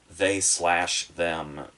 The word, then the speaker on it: They/Them: now go on to they slash them which i only learned recently is how you say the title and and it makes